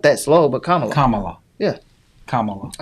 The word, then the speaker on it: Kamala: Her name is not pronounced like that. 45. Kamala. Oh Lord, not Paul. What? Kamala. That's how you say it. Kamala. Not that slow, but Kamala. Kamala.